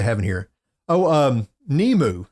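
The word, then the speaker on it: Nimue: in here oh um nemu it's n-i-m-u-e but it's pronounced nemu and she is the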